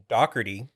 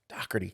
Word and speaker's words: Doherty: Well, it's Irish, so it's pronounced Doherty. Doherty. But a lot of people call it Doherty. Yeah, I say it wrong all the time.